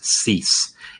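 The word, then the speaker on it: Cis: of the pitches so C sharp I'm going to pronounce cease F sharp I'm going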